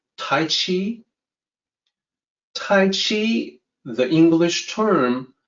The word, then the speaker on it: Tai Chi: mandated that would be romanized as CH but pronounced with the J sound of course the people